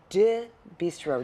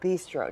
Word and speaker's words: Deux Bistro: You guys run Nicolas Eatery and Deux Bistro. Did I say it right? That's perfect. Oh, Perfect. Deux Bistro.